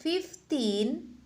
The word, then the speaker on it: fifteen: belasan Nah itu dia berakhiran dengan tin ya 15 fiftin tapi nanti kalau dia 50 itu adalah fifty beda cara membacanya kalau dia belasan itu agak panjang di timnya misalnya agak-agak begitu ke